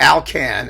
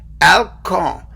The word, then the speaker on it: Alkan: alcohol charles valentin or alcan as we like to call him here in the good old u.s of a because it rhymes with calcan the dog food remember that anyway alcong was the most astonishing